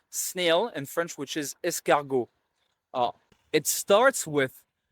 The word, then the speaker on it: escargot: in French, which is escargot. Uh it starts with E S C. So, in this case, when the E stands before two consonants in a row, it is always pronounced eh.